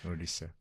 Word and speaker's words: Odisha: And and specifically with this pastor in Odisha, did I pronounce it right? Yeah. Odisha? Odisha.